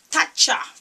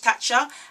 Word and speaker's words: Tatcha: Tatcha. That's how I pronounce it. T-A-T-C-H. Tatcha.